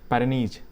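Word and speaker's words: Pyrenees: पैरेनीज। पैरेनीज। तो स्पेलिंग आप एक बार चेक कर लीजिए।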